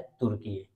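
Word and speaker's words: Türkiye: अब इस देश का नाम हो गया है तुर्कीये। तो अब से हम जब भी उच्चारण करेंगे तुर्कीये करेंगे, क्योंकि अंतर्राष्ट्रीय लेवल पर इस देश ने अपना नाम बदल दिया है।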